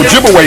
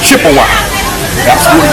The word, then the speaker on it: Ojibwe: And of course they corrupted the pronunciation of the Ojibwe people to Chippewa. So Chippewa and Ojibwe, that's the same people. But Chippewa is the European corruption of their real name, Ojibwe.